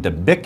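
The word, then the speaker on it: Dabiq: In the latest edition of a popular ISIS magazine, Dabik it is pronounced, a spokesman said, and I quote, Islam is religion of the sword.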